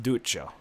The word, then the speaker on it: Duccio: you keep calling him douchey oh how do you pronounce it it will it's pronounced Duccio it's fishy oh yeah I got